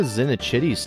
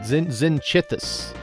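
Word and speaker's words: Zinichthy: I could get a Zinichitty's tail. Oh, wait, Zinichithus. Zinichithus. I've been saying it wrong.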